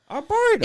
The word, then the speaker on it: Arboretum: That word just doesn't seem like it's pronounced there. There's a T there. Arboretum.